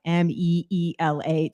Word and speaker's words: Mila: And it's funny because it's written Mila. Even at her doctor's office when they were little, they had the nurses would have to like put in parentheses like Meela just so they Oh, would pronounce just it correctly when they would call out her name.